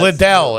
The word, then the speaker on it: Lidl: Oh, Liddell, I think it's called, or something Lidl. like that. I think it's Lidl. I think, It's pronounced Lidl.